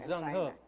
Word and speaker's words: Zheng He: You're not talking about Zheng He. Zheng He. Alam mo, ang hirap ng pronunciation. Zheng He. Yeah. Admiral. Zheng He. Zheng He. Yeah, ganun ang pronunciation.